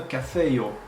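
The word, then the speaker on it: kafejo: Et aussi, on a cafeio. Cafeio. Donc, on voit le J se prononce comme en io, comme ça, comme le Y.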